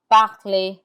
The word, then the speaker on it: parler: The ER has an A sound like AY, danser, chanter. Then we have parler, which is to speak, parler, aimer, which is to love or like, aimer.